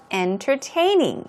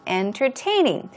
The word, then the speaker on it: entertaining: of all we have entertaining entertaining often times entertaining inner entertaining the first T will sound very soft